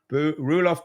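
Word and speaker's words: Roelof Botha: I can't pronounce what's how do you pronounce his name, Keith? Ruof BH Rulof BH Butter who says venture is not an asset class.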